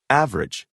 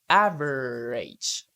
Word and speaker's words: average: a listen and practice the vowel immediately after a stressed syllable is sometimes not pronounced average different separate comfortable interesting